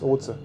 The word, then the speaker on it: Otze: Das spricht man übrigens wirklich Oze aus.